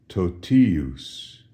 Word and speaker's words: totius: Notice the accent shifts from the ti syllable to the us syllable, and as a result, the pronunciation of ti is no longer t, as in totius, but rather it softens.